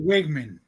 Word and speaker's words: Weigman: I'm not really a big believer in Connor Weigman, however you pronounce it. But Actually, Wigman.